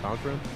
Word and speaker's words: Cochran: Cochran.